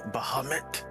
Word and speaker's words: Bahamut: uh i am sitting here devotee of bahamut that's how it's pronounced six and a half foot tall dragon